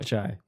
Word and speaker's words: chai: Chai, is it pronounced Kai or Chai? Chai.